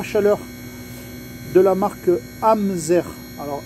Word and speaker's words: Amzair: service une pompe à chaleur de la marque hamzer alors amser ça s'écrit AMZ a i r c'est une pompe